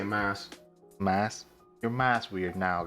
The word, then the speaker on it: Mas: Let's start with some questions that our guy, Mas Weird. How do you even pronounce him? M-A-S Weird? I just say mass.